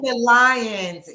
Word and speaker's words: Venetia Lyons: Venetia Lyons.